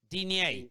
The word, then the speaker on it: Digne: Is it Digna? Lucas Digne. Digne. It's like saying Dean.